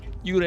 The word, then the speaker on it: Yurei: Uray is how you pronounce it.